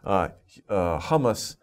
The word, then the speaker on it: hummus: Hummus, H-U-M-M-U-S, hummus. Okay, that's a food, okay? So be careful with these words, pronunciation, and don't get it mixed up with the food from the Middle East.